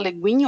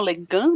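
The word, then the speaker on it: Le Guin: sonho também da Úrsula Úrsula leguin ou legan né dependendo da da sua pronúncia que era um livro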